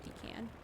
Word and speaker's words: pecan: Say it however you'd like to say it, but it's pronounced pecan.